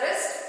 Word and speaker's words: wrist: You can pronounce it as wrist. W silent over here.